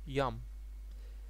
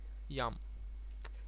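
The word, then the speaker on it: ים: doesn't like the sea the sea in Hebrew is called yum very simple yum say it after me yum so if you walk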